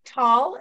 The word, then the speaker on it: Tal: And I see Tal, did I pronounce it right? You have your hand raised. Did you have a question? No, just wanted to say hi. Yes, and you pronounce it perfectly.